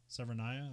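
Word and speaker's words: Severnaya: weapons control center uh severnia or severnia or you know Russia severinaya okay yeah that's how you say it in the movie so oh by the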